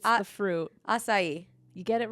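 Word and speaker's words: açaí: a AI AC a i it's the fruit asai you get it right yay there you go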